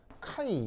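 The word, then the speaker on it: chi: 정기임성도 보통 그리스어 알파벳 카이 요걸로 많이 표현해요 카이라고 그러니까 그리스 알파벳인데 읽을 때 이렇게 읽어요 크하인데 크하인데 이제 빨리 발음해서 카이라고 있습니다 그 정김성도가 저기에 있는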